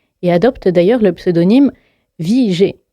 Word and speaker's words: Vigée: En 1943, il change de vie et adopte d'ailleurs le pseudonyme Vigée, qui s'écrit V-I-G accent aigu E, mais se prononce comme la vie pour laquelle il s'est battu.